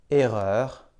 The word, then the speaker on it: erreur: En début de mot, devant une même double consonne, on prononce aussi « et ». Par exemple, erreur, essai, effacer.